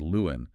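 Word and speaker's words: 六安: The correct historical pronunciation of that specific character in this context is Liu'an.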